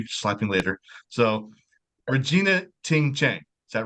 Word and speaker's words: Regina Ting Chen: very special episode I have I hope I pronounce this right if I do you can slap me later so Regina Ting Chang is that right yes yes sweet yes who